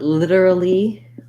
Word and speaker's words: literally: Then you also asked about whether or not literally is similar to literature. Yes, they have a similarity that they both have the flap T.